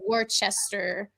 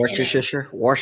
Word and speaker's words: Worcestershire: paste a little bit, so I put some Worcester, I think that's how you say it, sauce in it. Worcestershire, Yeah, Worcestershire, whatever.